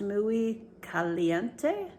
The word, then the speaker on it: Muy Caliente: I believe it is pronounced Muy Caliente, but don't hold me to that.